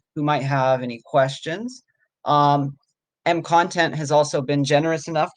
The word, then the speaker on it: MContent: Is that how you pronounce it? MContent? Yeah, MContent.